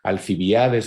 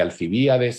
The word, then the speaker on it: Alcibíades: Modificaciones acentuales, muchas veces palabras cultas, esdrújulas, que se pronuncian como palabras graves, como palabras paroxítonas, alcibiades en vez de alcibíades, antíoco en vez de antíoco, alumina en vez de alúmina.